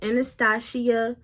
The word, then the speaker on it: Anastasia: For my brows, I use Anastasia, that's how you say it.